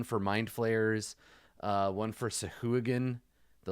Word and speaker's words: Sahuagin: Sahuagin. That's how I've always pronounced them. I'm sure that it's Sahagin, but the Sahooligans.